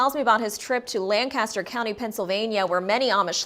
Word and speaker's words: Lancaster: central market in lancaster sorry they pronounce it lancaster oh right and uh